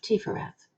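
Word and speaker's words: Tiphereth: We pronounce that PH as an F, Tifereth.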